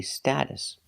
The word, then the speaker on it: status: We're using the short a sound like apple and black cat.